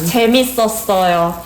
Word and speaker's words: 재밌었어요: 재밌었어요.